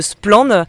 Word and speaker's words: Splann: je suis membre de splan ou splan en français qui est un média